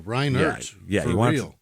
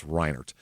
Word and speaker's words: Reinert: T by the way oh Ryan yeah you wanted to say Ryan Hart that's how I kept wanting to spell it but no it's reinert so he was enlisted